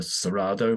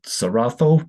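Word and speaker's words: Cerrado: the Amazon as the serado but apparently is the saratho I believe is a Brazilian Portuguese pronunciation of it so it's not rainforest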